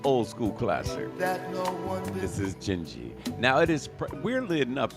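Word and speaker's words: Dindi: This is Gingy. Now, it is, weirdly enough, this record is pronounced Gingy, like G-I-N-G-I. Yeah. However, it is spelled D-I-N-D-I.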